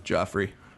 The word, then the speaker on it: Joffrey: read in a while it was Joffrey I knowre it rhymes with Offrey it was the best